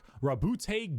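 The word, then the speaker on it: Roboute: Primarch, Rabute Gilliman. That's how it's said.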